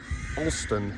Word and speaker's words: Alston: yes all right and that's the village of austin behind us did i say it right you